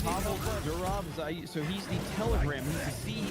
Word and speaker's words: Pavel Durov: So I think you pronounced his name. It's Pavel Durov.